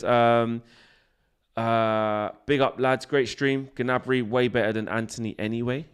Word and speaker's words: Gnabry: Gnabry way better than Antony anyway in general."